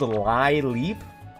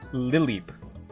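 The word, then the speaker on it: Lileep: on a plant is actually not called Lie Leap. It is pronounced liip like a lily.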